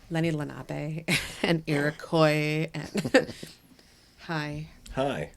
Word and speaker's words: Lenape: ghosts we're gonna squeegee the ghosts away it's pronounced Lenny Lenape and Iroquois and hi hi I'll be here